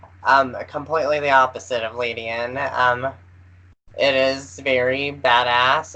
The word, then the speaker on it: Ledian: Mm, Do you pronounce it Ladian, Ladian, gotcha.